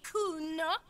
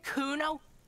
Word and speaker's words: Kuno: me to nick it kuna no i didn't it's kuno say it right say it like it said kuno that's an orange name